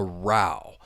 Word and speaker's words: row: A row. And I think probably when you see this word, the pronunciation that many people think about would be row, the activity. You're rowing a boat. You're using the ores to row row row. So, row row. Keep that one in mind.